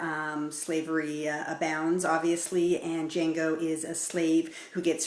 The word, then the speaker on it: Django: gab and i'm reviewing django unchained the d is silent the new quentin tarantino